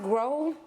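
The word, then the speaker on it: Grohe: who is it by is this pronounced grow g r o h e I think it's grow but if not I'm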